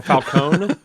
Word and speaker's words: Falcone: Because it's Falcone and in the Batman, right? First. Yes. Yeah. Or Falconee. Falone. Yeah, because they've done falcone and falconee the pronunciations.